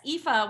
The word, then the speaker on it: Aoife: It looks like Aoife. It is Aoife. Sorry. Everybody, don't worry. I mess it up too, actually. No, how do you say it? Yes, Aoife, which is spelled Aoife. She's a lot of vowels.